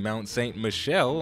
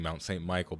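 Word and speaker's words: Mont Saint-Michel: well we finished building Mount St Michelle I found out via sha Beanery that I was saying it wrong I was saying Mount St Michael before but you guys are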